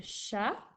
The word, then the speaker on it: chat: Un chat au masculin s'écrit C-H-A-T, le T à la fin qui est muet.